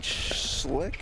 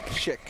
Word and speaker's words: Schick: Colin Schlick, is that his name? Schick.